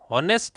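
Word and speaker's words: honest: यहां एन आएगा और यह है ऑनेस्ट नहीं है। यह क्या है? ऑनेस्ट। क्या बोला जाता है इसको? ऑनेस्ट। तो ऑनेस्ट है तो किससे स्टार्ट हुआ रहा है? ओ से।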